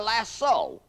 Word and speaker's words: lasso: a lariat or a lasso l a double so often mispronounced lasso how can a cowboy